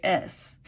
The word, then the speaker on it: y: It's the letter Y, pronounced E.